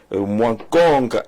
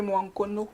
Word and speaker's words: Mwankono: Nous allons d'abord, la caméra, dérouler le tapis rouge à Mwankong, je crois que j'ai bien prononcé. Non, c'est Mwankono. Mwankono.